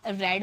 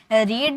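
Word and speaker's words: read: बोल रहे हो, तो गाइज रीड जो ऐसा एक वर्ड है ना, इसका तीनों फॉर्म तीनों फॉर्म बिल्कुल सेम होता है, लेकिन इसकी प्रोनाउंसिएशन अलग हो जाती है। फर्स्ट फॉर्म में हम इसे रीड बोलते हैं, लेकिन सेकेंड और थर्ड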